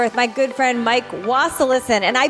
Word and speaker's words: Wasilisin: Today, I'm here with my good friend, Mike Wasilisin, and I pronounced his last name right.